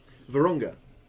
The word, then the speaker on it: Vurhonga: Vurhonga? Yeah, that's good. Vurhonga. Silent H. Us Brits like those silent letters, so that's good.